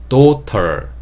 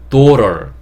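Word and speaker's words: daughter: 어려워요 이게 딸입니다 딸 도털 근데 미국 영어에서는 t 소리를 좀 적게내는 경향이 있어요 그래서 도럴 도럴 이렇게 하는데 이게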